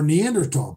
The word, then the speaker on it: Neanderthal: African blood and more Neanderthal blood. So it's really, how you want to fucking skin the cat. Neanderthal. The H is silent.